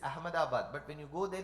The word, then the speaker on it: Ahmedabad: south of see we if we pronounce it the way it is written it is Ahmedabad but when you go